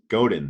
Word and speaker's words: Godin: does he say his name god seth godin godin there we go seth godin uh now he was og crossfit ceo explain a little more about him well wait wait i believe you're talking about seth godin who had nothing to do with crossfit he